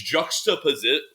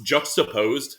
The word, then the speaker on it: juxtaposed: But it's juxtaposi. What? I don't actually know how to pronounce the word. It's juxtaposed. Yeah, that's how you say it.